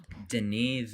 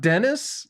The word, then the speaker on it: Denis: it's the knee Villeneuve Denise Denise not Dennis yeah damn oh my